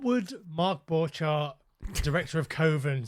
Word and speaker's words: Coven: You've got to say Coven otherwise it would rhyme with oven.